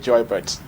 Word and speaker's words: Joybert: It's simple, it's just Joybert, as in Gilbert, as in Albert.